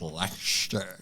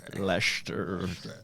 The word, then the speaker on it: Leicester: I prefer those pronunciations. I think it's just Leicester. Yeah, it's just Leicester. Leicester.